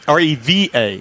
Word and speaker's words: Reva: But we're going to step over here to the Reva. I think that's how you say it. G-Wiz. Reva, like as in Reba McEntire? Oh, R-E-V-A.